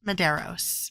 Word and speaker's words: Medeiros: Medeiros. That is spelled Medeiros.